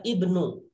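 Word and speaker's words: ابن: Ingat, ibnu ketika sebelumnya ada hadza berarti dibacanya hadza ibnu, begitu ya. Hadza ibnu, alifnya tidak dibaca. Biarkan saja walaupun ada tapi tidak dibaca, begitu ya. Jadi tidak dianggap karena posisinya di tengah-tengah. Hadza ibnu Hamidin, ininya laki-laki.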